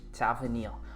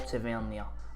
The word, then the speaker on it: Tavernier: with an ACL injury, and our captain James Tavernier, or Tavernier, or Tav for short if you can't be arsed with somebody saying, "No, that's how you say it."